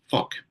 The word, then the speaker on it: Phuq: We are nodding and winking, I would suggest, to a certain album that was spelled Phuq and pronounced therefore fuck.